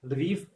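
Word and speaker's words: Lviv: last October I was in city leiv in Western Ukraine or in Lov in Russia Russian pronunciation and despite I speak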